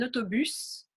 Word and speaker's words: autobus: Donc, on prononce le S, un autobus, le tennis.